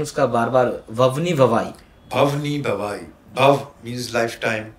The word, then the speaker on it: भवनी भवाई: गए, और आपकी पहली फिल्म का सर में प्रोनाउंसिएशन उसका बार बार ववनी भवाई। भवनी भवाई, भव मीन्स लाइफ टाइम, हाँ, और भवाई इज गुजरात का एक फोक थिएटर फॉर्म है, इसका नाम है भवाई।